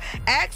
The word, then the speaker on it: ask: then you're not racist as soon as you reverse the K and s many will wrongly peg you as poor or uneducated however this variation on the word ask has actually existed for over a thousand years it's an alternative of